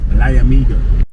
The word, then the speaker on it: Liamuiga: How do you pronounce it? Liamuiga. We felt like we were in good hands with our guide.